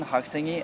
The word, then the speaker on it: 학생: The 시옷 in 생 is pronounced in a strong sound like 학생.